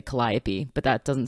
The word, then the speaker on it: Calliope: so for those wondering in the audiobook she does actually pronounce it kellyopi which is funny because you know I would would say Calliope but that doesn't sound